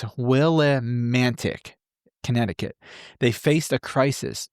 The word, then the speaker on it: Willimantic: Back in 1986, Willimantic, I can't pronounce this word. It's Willimantic, Connecticut.